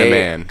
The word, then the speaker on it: Inmon: In a man.